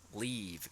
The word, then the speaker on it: leave: Aquí, leave, como si estuvieran sonriendo y un sonido de I más largo.